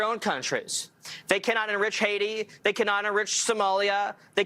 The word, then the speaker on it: Haiti: Thus everybody leaves Haiti, it pronounced correctly, not Haiti. The H is silent.